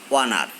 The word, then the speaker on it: honor: An plus noun starting with silent s, an honor. A plus noun starting with pronounced s, a horse.